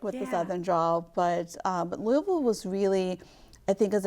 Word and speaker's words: Louisville: I'll say it properly, Louisville, Kentucky.